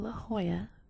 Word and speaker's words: La Jolla: according to the tradition the name La Hoya derives from a Spanish word of identical pronunciation but a slightly different spelling meaning the jewel according